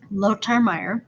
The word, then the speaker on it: Lothar Meyer: guy is german and in german th are like a hard t so his name would be pronounced lotar meyer he also published a